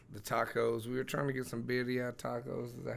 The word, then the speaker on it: birria: We were trying to get some birria tacos.